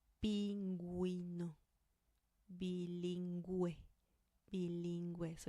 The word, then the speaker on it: bilingüe: Bilingüe. Bilingüe. So you do pronounce the U here.